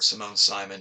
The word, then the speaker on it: Simone Simon: And unless we're talking about the actress Simone or Simone Simon, depending on how you want to pronounce her name, um, there's nothing to those movies either.